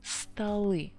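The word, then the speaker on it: столы: a little bit different stalli now letter o is unstressed so it would be r sound but not all animal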